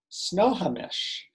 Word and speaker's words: Snohomish: to live in a place that i can pronounce snow snohomish snohomish snow s-n-o-h-o-m washington and her husband richard brought